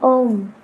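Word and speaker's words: ओम्: Now it was said एक ओंकार, but there are 3 syllables in Om. A, U, Ma. A for Brahma, U for Vishnu, and Ma for Mahesh.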